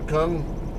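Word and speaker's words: Kueng: camera view from Officer Kung, I think they pronounce it King, but it's Kung, whatever.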